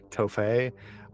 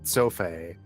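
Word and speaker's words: Țofei: And it's not Tofé, it's Sofé. Like a TS, because it's Romanian. It's a letter that we don't have in English, but it looks similar to a T.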